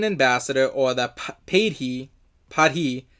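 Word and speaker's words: paidhi: or that paid he padhi I'm gonna call it party because that sounds more appropriate that's how it's said in the Ativan language in a mostly superficial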